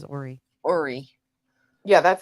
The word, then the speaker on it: Horry: We said Horry, and then they told us it was Horry.